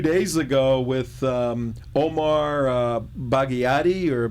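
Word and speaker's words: Barghouti: the block two days ago with um Omar bagadi or bagati how do you sayti baruti barouti yeah barti yes he spoke at UC Irvine Monday night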